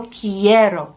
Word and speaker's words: quiero: means I want credato quiero is spelled with a q u but the Q U makes a k sound in espanol always every time so it's yo quiero with that k sound I want a belt